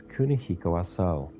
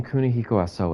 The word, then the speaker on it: Kunihiko Aso: The plaque reads, Kunihiko Aso. He must be the man in the picture. His the last syllable of his name is long. But they don't show it in this.